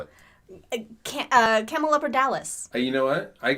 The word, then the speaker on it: Camelopardalis: But Mike, do you want to pronounce this name? Camel Della Parpis? Partis? Camel-Dippethoppers. What do you call it? Camelopardalis.